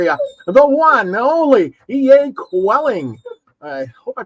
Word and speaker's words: Koetting: great guess for you the one only EA quelling I hope I pronounced that qu quite right yeah you got